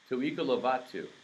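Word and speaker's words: Tu'ikolovatu: Pronounced Tu Iko Lovatu. Tuika Lovatu.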